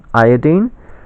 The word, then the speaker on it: iodine: The chemists have it right. They pronounce it chlorine, bromine, iodine, and there is no other way to pronounce it unless you're talking about the ion, and then you say chloride, bromide, or iodide.